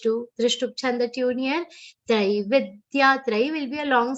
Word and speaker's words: त्रैविद्य: Traividya. Trai will be a long sound. Here one common mistake. Traividya. Trai nahi. Traividya. Trai will be long.